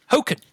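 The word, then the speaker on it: Hokan: Hoken. That is how you pronounce it.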